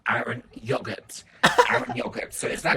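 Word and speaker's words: Eren Yeager: Guys, to the anime community, apparently I've been mispronouncing Erin Yoga's name. So a few Yogurt. of you guys have told me it's not Erin Yoga, it's actually Aaron Yogurt.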